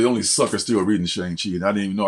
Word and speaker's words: Shang-Chi: Shang-Chi, excuse me. Been mispronouncing it all these years.